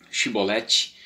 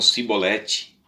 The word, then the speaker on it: Shibolete: eles são obrigados, né, no seu retorno, a pronunciar a palavra Shibolete, e eles diziam então Sibolete, né, e eles queriam então escapar por causa